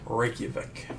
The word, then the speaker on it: Reykjavik: Yeah, it's pronounced Reykjavik.